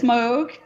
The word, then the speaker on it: Moog: spectrum it's you know some people think the name is pronounced mook but it's moog that's something something i'm